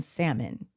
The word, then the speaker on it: salmon: She pronounced the L in salmon.